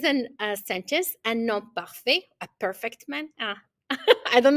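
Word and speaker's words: parfait: the pronunciation for male we don't pronounce that t we say per for female because it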